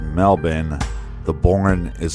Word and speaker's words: Melbourne: and you are super super awesome well it's pronounced Melbourne the born is silent as you're over at